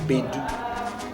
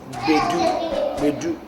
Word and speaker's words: Gbedu: the bait do drum spells gbd you pronounce be do some people have difficulty pronouncing the G B so you can just say B do but properly said we do we do drop it